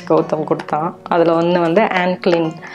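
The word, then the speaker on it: Anne Klein: அதில் ஒன்று வந்து ஆன்க்ளின். இது வந்து ஆனி கிடையாது, ஆன்க்ளின்னு தான் அந்த ஷாப்பில் ப்ரொனவுன்ஸ் பண்ணணும்னு சொன்னாங்க. ஏன்னா ஆனி அப்படின்னு நான் ப்ரொனவுன்ஸ் பண்ணேன். பட் அவங்க வந்து ஆன்க்ளின் அப்படின்னு சொன்னாங்க.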